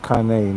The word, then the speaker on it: Cane Corso: I knew about them in high school, and it's actually pronounced Kane, not Kane.